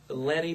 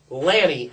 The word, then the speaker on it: Lanny: here the best wrestling mindes since the genius Lenny puffo leaping Lenny Lanny Mr pronunciation I have a PO it was Lenny Lanny la nny you jackass I see what it's